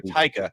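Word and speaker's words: Taika: forgotten well I keep waiting for how you pronounce this ta ta ta ta ta I keep waiting for taica and he's working with another writer now he's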